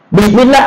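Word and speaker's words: بسم الله: Bismillah asalnya bi ismillah, ke mana hamzahnya? Ke mana alif pada hamzahnya? Alif pada hamzahnya dibuang, hamzahnya dibuang, ba dengan sin disambung, ditulis disambung, diucapkannya disambung, bismillah.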